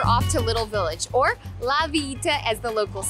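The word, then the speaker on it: La Villita: next we're off to little village or la vieta as the locals say now this is where you come for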